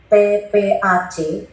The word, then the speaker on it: TPACK: Sebenarnya tidak ada N-nya, tapi supaya bisa dibaca, TPCK kan susah dibacanya. Makanya ditambahin sisi A. Itu diucapkan aja N.